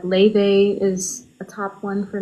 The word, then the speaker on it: Laufey: You say Leve? Yeah, but it's spelled Laufey.